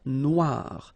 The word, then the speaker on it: Noire: Then here, la mer Noire. Same thing here that we had previously. Final E not pronounced, okay? And then O-I, remember, wa, noir, noir.